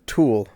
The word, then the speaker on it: tulle: Tulle. Tully. I always said it's tool. Some people say that too. There are multiple ways to say that particular word. I've heard it pronounced both ways, and I go with